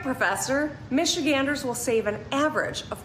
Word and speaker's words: Michigander: Kat, as a native Michigander, is that how you say it? Michigander? Michigander, yeah.